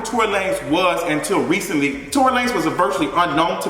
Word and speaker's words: Tory Lanez: lane was until recently torrey lanez was a virtually unknown to me so bad that i didn't know how to pronounce his name i was over here saying tori lenez because i had never